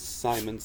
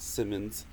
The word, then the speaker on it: Simons: go bye this and i was mispronouncing it his name is simon's not simmons um he was one